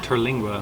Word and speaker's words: Terlingua: Terlingua, which is in Big Bend Ranch State Park, so on the other side of Big Bend.